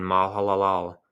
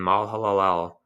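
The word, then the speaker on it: Mahalalel: Canan were 90 years and he died when malal laal had lived it's m a h a l a l l so if I'm slurring that my apologies in advance kind of hard to pronounce when Mal Halal had lived 65 years he had fathered Jared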